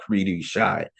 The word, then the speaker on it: cri-du-chat: When he was born, we were told only 60 babies a year are born with what is called cri-du-chat. It's spelled Cridchat, and it's a French word that means cry the cat.